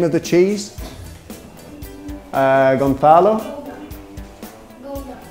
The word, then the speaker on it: Gouda: That is like an H. Like an H in English.